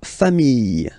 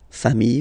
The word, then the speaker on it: famille: Famille, singular form, famille, plural form, same pronunciation, S, not pronounced.